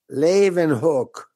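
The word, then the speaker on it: Leeuwenhoek: guy who invented the microscope how do you pronounce his name laven hook laven hook and hook okay i always wondered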